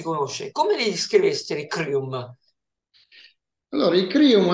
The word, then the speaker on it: Kryuhm: abbiamo ospite una band crium E lo pronunciamo in italiana perché la band è italiana Anche se canta in